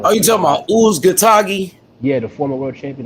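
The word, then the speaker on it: Uzcátegui: Yo, H-Money, how you pronounce that Latino? Oh, you talking about Uzgatagi?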